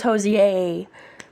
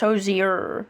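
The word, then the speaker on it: Hozier: I thought it was Hosier. My mom thought it was just Hosier. It's Hosier. So you do pronounce the I.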